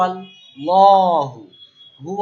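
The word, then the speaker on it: الله: না ল ল মোটা কেন এই আল্লাহ শব্দের লামটা আমরা জবর দিয়ে পড়লাম মানে মোটা ইন্নাল্লাহা ওকে ইন্নাল্লাহা হু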